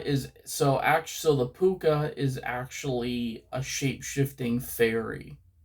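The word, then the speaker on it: púca: But people still mention these, but it's called the puka. Now, in English translation, it's spelled P O O K A, but if you want to use the Irish word, it's actually the puka.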